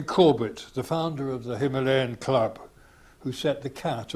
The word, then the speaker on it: Himalaya: In recent years, he declared, there has been a tendency amongst superior folk to say Himalaya or Himalaya instead of the common anglicised pronunciation of Himalaya.